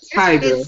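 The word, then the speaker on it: Tyga: K mentioned Kylie and is it tigga or Tig I'm sorry I'm old I don't know how do you pronounce it it's tiger TIG watch can I can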